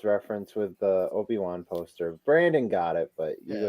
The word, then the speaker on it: Brandon: It's branding, dude. Branding. No, it's pronounced Brandon.